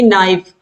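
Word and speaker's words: knife: जैसे कि नाइफ, नाइफ मतलब चाकू, और इसमें के साइलेंट होता है।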